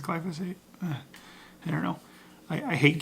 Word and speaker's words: glyphosate: the nursery you'll get the glyphosate I think I'm saying that right glad to say it I always want to say it wrong like glycer fade or something or I think it's glyphosate I don't know I